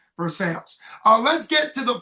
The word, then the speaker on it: Versailles: So, if you're French, you're going to say it, North Versailles. Everybody else, I think, pronounces it north Versales.